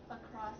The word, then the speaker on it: across: Ah, so it's a two-syllable word, right? Across the border. Ah, so in your head, you might think that you are saying the full word, but I'm pointing out that you're not.